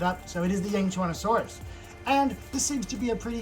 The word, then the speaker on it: Yangchuanosaurus: And yes, that is how you pronounce it. I just looked it up. So it is the Yangchuanosaurus.